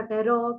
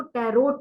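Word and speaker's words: tarot: इसको टैरो बोलते हैं कुछ लोग इसको टैरोट बोलते हैं so please don't call it टैरोट last का जो टी है वो साइलेंट है इट इज टैरो टी ए आर ओ टैरो ठीक है जी तो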